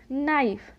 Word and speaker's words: knife: आता हो तो वहाँ पर ज़्यादातर के का उच्चारण नहीं किया जाता है। For example KNIGHT night. Next KNOW नो। KNIFE नाइफ।